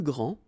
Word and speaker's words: grand: Okay, so phonetically what you can hear is that this first form here for the masculine, grand, so you don't pronounce the final D, will be exactly the same as the plural form for the masculine, grand.